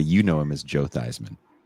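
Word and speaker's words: Theismann: So it can rhyme with the pre Joe Theman that you know him as Joe Thyman.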